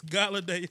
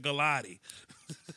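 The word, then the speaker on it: Golladay: It's Galladay. Yeah, I said Galati. Oh, Galladay? My bad. No. Galladay, man. Say Galladay like Holiday Inn.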